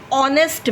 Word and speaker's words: honest: Okay, he is an honest man. Again, O. Okay, we start the pronunciation with O. H is not pronounced.